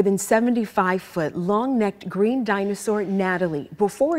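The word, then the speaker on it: Gnatalie: We're getting a behind-the-scenes look at the more than 75-foot, long-necked green dinosaur Natalie before it's open to the public. Natalie spelled with a G because of the stinging gnats that pestered excavators.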